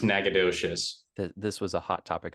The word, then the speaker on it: Nacogdoches: is pronounced nakatish yeah whereas the Texas one is pronounced Nacogdoches this was a hot